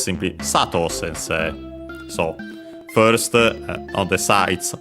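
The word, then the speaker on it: 先生: of the rule uh first low second high or uh the other way around but then it stays high until uh include the se of sensei and then it's low on the on the long vow sensei tanaka sensei but yeah in this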